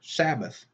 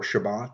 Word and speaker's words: Shabbat: The letter S today stands for Sabbath. Sabbath is from the Hebrew word Sabbat or Shabbat, depending on how you want to pronounce it.